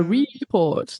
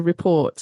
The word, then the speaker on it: report: They put the stress on the first part, review or a report. No, it's a report. It's not a report.